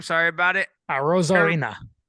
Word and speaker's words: Arozarena: Arozarena. Arozarena, yes. Though Yashida from Boston Red Sox host a higher batting average amongst qualified left fielders in the AL. One more time, David. Arozarena.